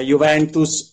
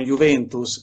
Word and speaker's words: Juventus: pronuncia corretta è bicicletta, è Juventus e non Juventus, che mi viene più spontaneo da milanese.